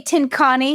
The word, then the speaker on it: Tincani: Did we say Tincani? And then talked about how it sounds like. Yes. Anyway. But Matt was very. But Tincani is correct.